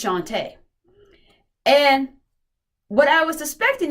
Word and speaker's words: Shantae: It's Shantae.